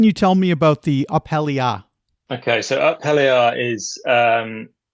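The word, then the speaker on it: Up Helly Aa: your book, I can't remember, is this called Uphelly Ah?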